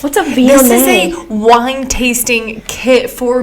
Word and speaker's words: Viognier: Randy, this wine is a Viognier. Veal what? What in the Viognier, what? pronounced Yeah, exactly. Viognier.